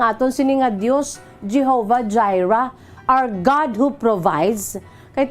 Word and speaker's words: Jireh: Jehovah Jireh, J-R-R-E-H. Tubangan ko, ari di si Jireh. Pag-pronounce sa kay Jireh nga ngalan, Jireh.